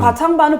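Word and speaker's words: 科创板: 그것도 좀 발음이 커창반. 항상 커창반이라기도 예, 하고 예, 예. 과창반이라고도 하고 뭐 다 틀리더라고 나오는. 과창반은 번역해서 말한 거고 거창반은 발음 그대로. 커창반.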